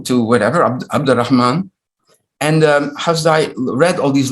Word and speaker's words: Hasdai: Now we know what Ashkenazi pronunciation comes from. Hasdai is now Hasdoi. That sounds very Ashkenazi, right?